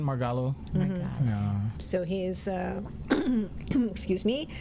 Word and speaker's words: Margallo: I believe that would be kind of more the Spanish pronunciation, Margallo.